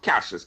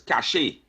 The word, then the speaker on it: cache: And let us call Lennox know that the word is not pronounced cashes, cache. A cache of arms. Not a cache of arms. Who's Lennox? A cache of arms. Right? And I don't mean to be like the person who always arguing that you don't pronounce properly. This one is pronounced cache.